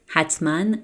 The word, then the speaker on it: حتماً: حتماً, يقيناً, مطمئناً, and قطعاً. And as I said before, when you see this symbol above the letter alif, you have to pronounce it like n.